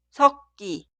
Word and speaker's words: 섞기: Por eso la primera palabra, mezcladura, se escribe así, pero suena 섞기, 섞기, 섞기.